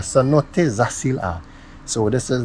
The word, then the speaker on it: Zacil-Ha: First cenote, and I have no idea what the name, how to pronounce Jay. Please help me out to the little Spanish, el español. Zacil-Ha. Cenote Zacil-Ha.